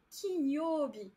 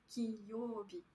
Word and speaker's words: Kinyobi: Alors oui, hier soir, pour toutes celles et ceux qui ont suivi, Kinyobi. Il n'y a pas de liaison en japonais entre le n et les prochaines syllabes. Donc c'est Kinyobi. Kinyobi.